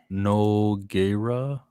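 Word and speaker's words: Nogueira: pronounced Noggera.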